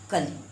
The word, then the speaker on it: कली: देखिए इसमें देखिए क और ल में छोटी, इसका उच्चारण होगा कली। क्या होगा? कली, यानी ये कम समय के लिए, इसको खींचकर हम नहीं बोलेंगे, कली।